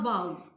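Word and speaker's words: bough: Pronunciation are different, but spelling are almost same. O-U-G-H, O-U-G-H. When we read the words, we think that cuff will be matched with bow. But if we pronounce it, we will find that no, there is no rhyme between these two words.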